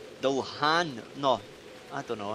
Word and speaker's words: Dullahan: Aye, Dulian. Dulhan. No, I don't know. How do you pronounce this? Dullahan.